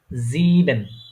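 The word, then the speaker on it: sieben: তারপরে এস, এস, এসটা আমি বলেছিলাম অনেকটা জ এর মতো উচ্চারণ হয়। ঠিক আছে, ঠিক আছে, তাহলে এটা কি হবে? এটা হবে কি? জিবেন।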